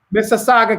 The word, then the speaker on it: Mississauga: do you say the word this is Sargon Mississauga Canada I apologize your major win there right